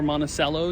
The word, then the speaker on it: Monticello: Monticello, Georgia, I believe it's pronounced, or Monticello, depending on who you ask.